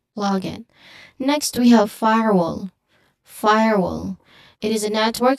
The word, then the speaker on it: firewall: The common mistake of blending it into firewell uh it obscures the distinct parts.